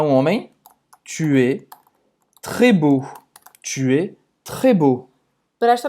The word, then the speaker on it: beau: Beau. E-A-U. Em francês tem o som do O, como água.